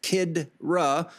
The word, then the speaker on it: Khidra: But in Persian spiritual concepts, the term Khidra, Khijra, pronounced Kidra, means guiding soul, which